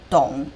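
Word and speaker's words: 董: This character pronounced as Dong, the surname of Dong Zhuo.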